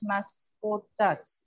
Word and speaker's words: mascotas: Yo tengo tres más mascotas. Mascotas. Mascotas. Mascotas. You see, there is no any written accent, but the force of the voice of the accent is mascotas.